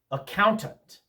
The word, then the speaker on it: accountant: especially when the unstressed syllables come between stressed syllables. Let me show you what I mean with some specific examples. Accountant.